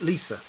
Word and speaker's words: Lysa: So when John Aaron married Lysa, this was um incidentally George R. Martin pronounces it Lisa in case you want wanted to know.